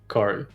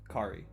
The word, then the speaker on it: Khary: Khary. Khary. Yeah, perfect. Okay. Because you know how I've been saying it Khary, and it's been fucking me up.